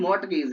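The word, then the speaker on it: mortgage: a mould is नॉट तो Maui गेज तो है नहीं मोट गेज है तो मोट गेज स्पेलिंग एक ही बची एम ओ आर टी जी ए जी ई मोट गेज this spelling is right और व्हाट इज द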